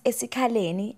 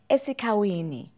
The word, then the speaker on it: eSikhaleni: White people failed to pronounce eSikhaleni and said eSikhawini.